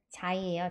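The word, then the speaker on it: Xi: 이번엔 자이예요, 자이. 이게 왜 자이냐? X인데 X는 X 발음 나는데 그쵸? 근데 X가 자이, 이 발음도 나요. 그래서 저희 실로폰이 아니라 xylophone, xylophone 이렇게 발음하거든요.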